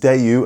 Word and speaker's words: Daewoo: Yes, it’s pronounced Day-yoo and now die-yoo, I know – I saw the comments!